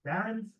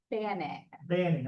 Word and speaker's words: Banning: Barron's? Banning, I'm sorry. Danny Banning, it kind of rhymes.